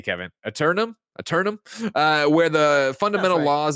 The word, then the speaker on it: Aeternum: Aeternum? Aeternum, but they spell it with the A and the E. That always gets me.